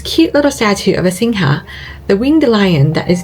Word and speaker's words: Singha: little statue of a Singha, the winged lion that is the iconic king of mythical beasts in Thai culture. It's also what Singha beer is named after, although the locals pronounce it Sing.